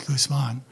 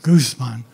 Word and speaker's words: Guzman: Rafael, or Ralph Guzman, and the accent is on the man, it's Guzman, not Guzman, was hired by UCSC as an acting associate professor of politics and a member of Merrill College.